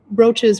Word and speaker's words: brooches: i like that one she says broaches rhymes with roaches coaches etc they weren't catholic i